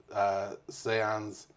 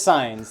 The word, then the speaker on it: Saenz: In my head, I feel like it's Saenz or something of that nature. If I was Wiccan, that'd be cool. That's why I was like Saenz. It's signs, like stop signs, Yeah.